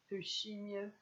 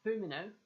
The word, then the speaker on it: Fumino: We had some spectacular panels throughout this chapter that really highlighted the features of Yuiga Fushimio. I said the name wrong. It's Fumino, my bad, and Konami Senpai.